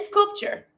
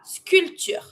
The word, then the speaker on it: sculpture: Then sculpture la sculpture. Here careful with the pronunciation. In English you say sculpture you pronounce the P. In French you don't. So you avoid the P and you just pronounce the T.